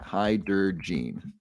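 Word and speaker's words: Hydergine: let me drop that in the chat chat hi der Jean the prescription drug you need to check with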